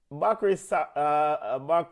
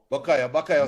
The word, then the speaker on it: Bukayo: Bako Saka. Or Buko Saka. That's the correct pronunciation, right? Bukayo Saka.